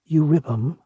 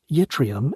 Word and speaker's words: yttrium: Euribum, or yttrium as the rest of us say it, is almost exclusively found